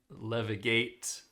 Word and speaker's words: levigate: Well, unfortunately the real pronunciation levigate. I was just so surprised to hear you pronounce the G with such a uh What is this called? A long a long G rather than a short G, but yes, levigate.